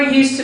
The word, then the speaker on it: used to: that in the conversation the D in use to is often silent and probably because it is difficult to pronounce it D and T sound together so did you ever use to play true into anywhere